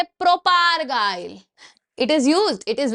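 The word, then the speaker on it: propargyl: इसकी प्रोनाउंसिएशन तो भाई मेरे ऊपर से जा रही थी। ठीक है? मैंने बचपन से बोलने की कोशिश करी है बट नहीं याद रहती है। तो इसको बोलते हैं बच्चे प्रोपगाइल।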